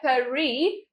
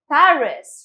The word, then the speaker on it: Paris: वैसे इसका pronunciation है Paris, which is in French, but we'll say it as Paris, right kids?